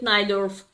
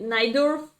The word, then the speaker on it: Najdorf: Yeah, in my country we spell it Najdorf, but I know that it could be more precise pronunciation Najdorf in English.